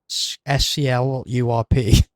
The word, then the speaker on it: Sklurp: Is it Sklurp or is it SCLURP? Do I pronounce it Sklurp or is the RP part separate? Um, I've wondered that. Got it like the first time, so it's just Sklurp.